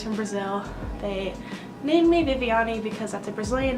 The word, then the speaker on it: Viviani: they read it, because it is spelled like Vivian. But yeah, so Viviani, that's how you pronounce my name.